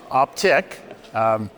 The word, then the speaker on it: Optiq: What is it, and is it pronounced Optiq or Optiq? It's Optiq.